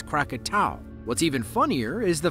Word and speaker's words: Krakatau: the most mispronounced anounced many people including myself mistakenly say katoa when the official name is kakat what's even funnier is